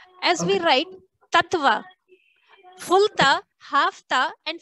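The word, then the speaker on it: तत्त्व: That is how you will have to pronounce it. Tattva. There's a stress that is given in this place. Tattva. So that is the pronunciation. Tattva, not tattva.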